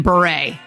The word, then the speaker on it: Bure: Candace Cameron Bure. I'm sorry, but Beret is B-E-R-E-T. And hers is B-U-R-E.